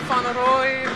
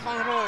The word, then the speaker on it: Van Rooy: Et première faute de Van Rooy. Je me permets d'accentuer la prononciation. Voilà, j'espérais qu'on aurait une petite touche Dutch, Van Dutch, tu vois.